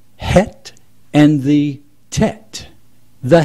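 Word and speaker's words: ח: the other two Hebrew letters is the Chet pronounced het and the Tet the het means means border or fence or to protect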